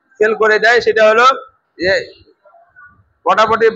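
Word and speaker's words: ج: সা উচ্চারণ করে আসছে, জিমের কাছে এসে আবার যা না বলে জিম বলে দেয়। বা তা সা জিম, জিম না, তখন হবে কি যা।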